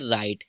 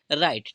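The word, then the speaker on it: right: silent रहेगा ठीक है जीएच का कोई उच्चारण नहीं करने है ठीक है जीएच हमारा क्या होगा साइलेंट रहेगा जैसे हम राइट है या हम बोल सकते हैं टाइट है ठीक है इनमें क्या होता है जीएच जो हमारा क्या होता है इनवर्ट्स में जी एच क्या होता है साइलेंट रहता है ठीक है और टी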